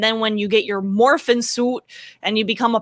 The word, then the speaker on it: Morphin: when you get your morphin suit and you become a Power Ranger, you're like unstoppable. It was morphin amazing. Suit? Why she say it like that? Because it's morphin. There's no G.